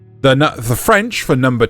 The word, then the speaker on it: deux: And no matter how many times people try to mispronounce the French for number 2, right? It is not ducks. It's the.